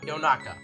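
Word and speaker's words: Yonaka: is actually Yannick dumb so names actually yotaka yo naka not pronounce what I just said just its yotaka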